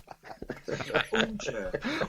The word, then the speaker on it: Hornchurch: Hornchurch. Hornchurch. There we go. It's Hornchurch, but it's just the way Les pronounces it. There's no H's in Hornchurch.